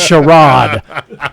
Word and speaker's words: Sherrod: And I was like, "Whose mother just succinctly told me is his name is pronounced Sherrod."